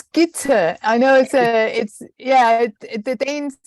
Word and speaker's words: Gitte: It's Gitte. I know the Danes pronounce things in a funny way.